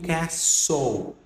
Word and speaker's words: castle: Esse caso aqui, ó, você não lê, porque eu já vi muitos lendo castle, castle, alguma coisa assim.